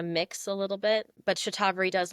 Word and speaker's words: Shatavari: I didn't know how I was saying Shatavari, so I'm glad I heard you say the proper pronunciation. So Shatavari. Yeah, Shatavari.